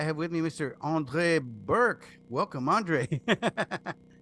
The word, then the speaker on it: Bourque: Andre Burke. Welcome, Andre. Thank you. Welcome. And thank you for uh pronouncing the last.